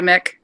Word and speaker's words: Mick: And the cool thing is, you said it was Mick Woods? I thought it was Mike Woods, but does he have a different pronunciation or? No, he goes by Mick.